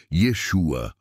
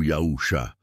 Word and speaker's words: Yeshua: verdadeiro profeta Jesus ou na pronúncia Hebraica Yeshua ou yausha e não aos falsos